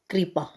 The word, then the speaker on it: कृपा: ये है क रीपा, कृपा, तो इसका जो प्रोनाउंसिएशन होता है वो होता है री, कृपा।